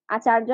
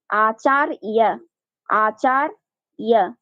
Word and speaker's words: আচার্য: করতে হবে ঠিক সেভাবে এখানে আচার্য বলা যাবে না সংস্কৃতে অন্তস্থ জ্বর উচ্চারণ সংস্কৃতে ইয়র মতো হয় আচার ইয়া বুঝা গেছে হ্যাঁ এরপরে